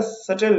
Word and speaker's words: subtle: इसके प्रोनाउंसिएशन पे ध्यान दीजिएगा, सटल है प्रोनाउंसिएशन, सटल।